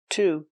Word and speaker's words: to: Same preposition, to. He had an allergic reaction to peanuts. He had an allergic reaction to peanuts. Remember, to is pronounced t because it's not stressed in the sentence.